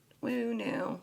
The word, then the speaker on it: Wu Nu: So, woo new, pronounced woo new, reconnection symbol.